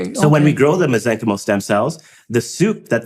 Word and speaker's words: mesenchymal: Whereas mesenchymal stem cells, they have a finite ability to grow, so they don't keep growing, which is why they're safe. And so, so when we grow the mesenchymal stem cells, the soup that they grow in.